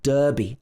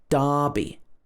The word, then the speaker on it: Derby: confusing for americans because this is not pronounced derby like it's spelled it should be darby darby with an long